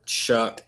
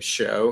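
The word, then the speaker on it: Shough: Um, I guess the Saints with Tyler Chuck, I always say his name show because it's spelled like show.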